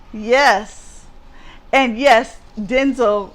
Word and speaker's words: Denzel: And yes, Denzel said his name is pronounced Denzel, not Denzel. Well, he should have told us that 20, 30 years ago.